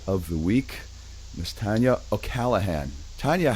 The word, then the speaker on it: O'Callaghan: the week, Miss Tanya O'allahan. Tanya, how are you? I'm good. You said it really well. Everybody always pronounces my name wrong.